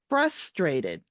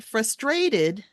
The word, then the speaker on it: frustrated: again and this word the first one is frustrated right the emphasis is on the first syllable frustrated not frustrated frustrated okay your turn good